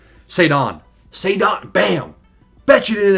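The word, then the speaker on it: Ceddanne: It's not Sedan. It's like Saddan.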